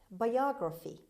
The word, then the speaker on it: biography: word number one biography biography biography as you see the stress is on the second syllable biography is the written